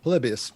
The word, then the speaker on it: Polybius: some more conversation this is how do you pronounce that polybius yep polybius polybius urban legend the urban what's the urban